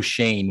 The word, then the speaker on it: Schoen: everybody has to understand it is pronounced shane as far as i know am i correct i